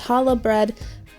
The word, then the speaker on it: challah: It's actually pronounced challah bread, but since I was introduced to challah bread, I've always said challah in my head.